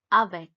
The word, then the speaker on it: avec: with with is avec e is pronounced as a so it's avec the next word is